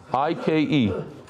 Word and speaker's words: Ike: How do you pronounce this? Ike? I-K-E.